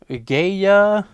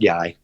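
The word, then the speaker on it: Gaia: Elizabeth April on the gay unexplained you can say that can it's pronounced guy oh guy yeah so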